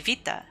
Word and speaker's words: Vita: can still call me Vita the V is pronounced by biting biting lightly on your lower lip while the top requires something kick your tongue against your teeth da ude if possible